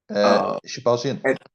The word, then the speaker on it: Shahbazyan: How you pronounce his name again? Shahbazyan.